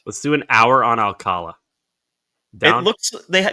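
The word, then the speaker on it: Alcalá: Let's do an hour on Alcala. It looks they the accent is on the last A.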